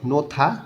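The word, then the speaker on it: 놓다: পাশে আছে ঝুসারুল ইনজেকশন নোথা দেওয়া, হিউত বাচ্চিমের পরে যখন দ আসে তখন এই দটা থ উচ্চারণ করতে হয়, নোথা দেওয়া।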